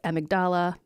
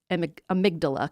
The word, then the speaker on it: amygdala: And I have heard it pronounced a few different ways. Amigdala. I like the way amygdala kind of rolls off the tongue.